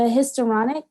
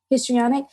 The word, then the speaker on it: histrionic: you off but you the historonic is that what is that what am I saying it right histrionic yeah histrionic could you do you